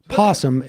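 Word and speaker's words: opossum: Chris berdick it's not the O in O possum is silent it's just the Americans don't bother with it posum is an informal nickname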